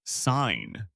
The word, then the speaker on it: sign: The word is sign. S I g N. The G is silent.